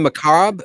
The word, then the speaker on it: macabre: So you guys pronounce the R in macabre?